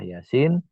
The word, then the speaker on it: Yasin: Bacanya ya 2 ketukan Yasin. Nah, sinnya itu 6 ketukan.